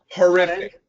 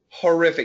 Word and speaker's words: horrific: This word, it actually is an O. However, when we say it quickly, it usually changes to a schwa, and we say horrific, horrific.